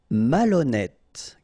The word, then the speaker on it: malhonnête: Malhonnête. Okay, remember H doesn't exist, so malhonnête. Don't insist on the final E. Malhonnête. And here you get E accent circonflexe, so you pronounce it like E. Malhonnête.